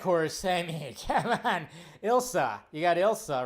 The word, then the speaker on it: Ilsa: I always say her name wrong. Ilsa. I always want to say Isla or something.